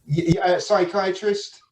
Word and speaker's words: psychiatrist: This is the way to pronounce it. Psychiatrist.